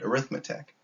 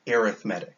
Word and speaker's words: arithmetic: exact same way but it's one of those words that's pronounced differently when you use it as a noun or an adjective so if i'm talking